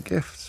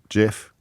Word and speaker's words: GIF: Doodle Whale says the creator of the GIF said that it is pronounced with a G as in giraffe, ergo GIF. And Wimble Womble said GIF stands for graphics interchange format, so the G of GIF is hard, as in GIF.